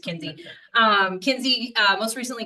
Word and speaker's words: McKenzie: McKenzie McKenzie right you can drop the Mac the Mac is silent right it's just Kinsey um Kinsey uh most